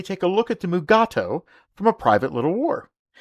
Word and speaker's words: Mugato: credits but what's this the name gumato was actually used in the later scripts of this episode however deforest kelly could not pronounce the name correctly so they changed it to mugato but unfortunately during the entire filming both shatner and kelly pronounced the name as mugat2 all the way through the episode now five decades later